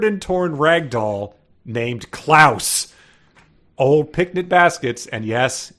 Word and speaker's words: Clouse: mouse and klouse is not even like klouse kinsky it is c l o u s so it's just I called that out clouse so it's spelled the same as house yes uh by the